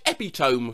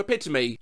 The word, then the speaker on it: epitome: entire life oh emoji a friend of mine used to say epitome for epitome i had to correct her she was an english teacher i've been pronouncing joaquin phoenix like jacquin phonics since 2002.